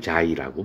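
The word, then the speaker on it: ξ: 이거를 우리가 반응 속도라고 그러고, 앞에서도 간단히 넘어갔지만 사실은 반응 속도는 얼마나 반응이 진행되느냐, 반응 진척도, 요거 발음은 자이라고 발음을 하는데, 반응 진척도에 따라서 당연히 값이 바뀌게 돼 있어.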